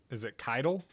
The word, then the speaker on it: Kittle: Yeah, and So Jorge Kittle, uh, is that did I pronounce it wrong? yeah, Is it Keitel? yeah, there you go.